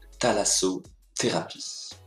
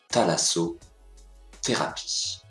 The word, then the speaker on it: thalassothérapie: tous aujourd'hui un gros difficile prononcer ça se prononce thalasso thérapie la difficulté ici c'est le th est bien français c'est très facile th se prononcent par exemple ici thalasso thérapie regardons le th associé à d'autres bruits leçon